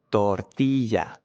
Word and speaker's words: tortilla: Tortilla, tortilla, tortilla. In this case, the R is stronger than camarero, so this R is different, right?